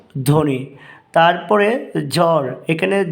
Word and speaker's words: ধ্বনি: আলোচনা করছি তো দেখো এক নাম্বারে শব্দের শুরুতে ব ফলা উচ্চারণ হয় না যেমন ধ্বনি এখানে বড় উচ্চারণ হবে না আমরা কি উচ্চারণ করব ধ্বনি তারপরে জ্বর এখানে জ্বর